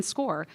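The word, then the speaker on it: SCOIR: Looks like Squire, but it's pronounced SCORE.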